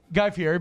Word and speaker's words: Guy Fieri: Is that how you pronounce it? Guy Fieri, but I like Guy Fieri.